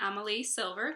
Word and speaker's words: Amalie Silver: off my books and I have with me Amal silver did I pronounce it right yes you did y author